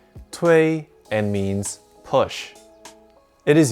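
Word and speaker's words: 推: pushing them off an edge this character is pronounced tui and means push it is used in this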